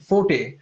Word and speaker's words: forte: So that even has two pronunciations, fort and forte, Forte, right?